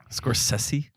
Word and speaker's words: Scorsese: oh I did Mortin marosi Martin scors sessi scors sessi that's how you pronounce it I've I learned that this week